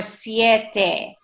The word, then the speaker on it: siete: there's nothing like us there's no such thing as a silent e in Spanish so like for us